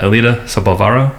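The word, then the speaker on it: Elida Sobalvarro: Uh, Alita Sabvaro from YMCA uh, Community Resource Center.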